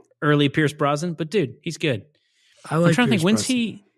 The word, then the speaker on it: Pierce Brosnan: Pierce Brosnan.